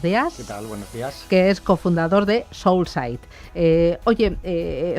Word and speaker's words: Soulsight: que es CEO y socio, a ver si lo digo bien, de cómo lo pronuncias, soul Soulsite. Soul, como el ritmo alma y mirada. Ah, vale. Soulsite.